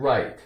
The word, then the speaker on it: right: Here's the word right. R-I-G-H-T. Right. Right. G-H is silent. R-I-T. Right.